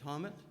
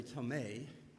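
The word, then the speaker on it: Thomet: And our awardee today is Barry, and I've learned how to pronounce his last name. Tomet, is that correct? It's T-H-O-M-E-T, and I was going to say Tomei, but I did check out what his name really was.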